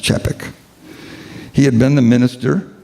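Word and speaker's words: Capek: name was Norbert chapek it's spelled CA p e k but it's pronounced chappik he had been the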